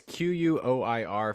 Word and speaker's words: Quoir: Yeah, and can I say it's Quoir for those who, that's a very odd spelling. So if you're looking it up.